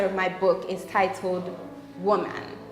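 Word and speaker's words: Womb-man: Okay, so seriously, the second chapter of my book is titled Woman. And I pronounce it woman because I actually spell it womb, so W-O-M-B, and then dash man. So essentially in that chapter,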